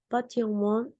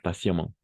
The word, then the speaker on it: patiemment: Et patiemment, patientemente, como passion, la T como C, la T, Ok. patiemment, oui.